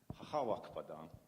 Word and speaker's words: Wakpadaƞ: here, but it's the Wakpadań. You can do it more to the back of the throat there. Second syllable emphasis.